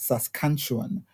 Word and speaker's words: Saskatchewan: So today we are in Canada at the University of Saskatchewan, pronounced Saskatchewan, Saskatchewan University in Canada, in search of master's and PhD opportunities.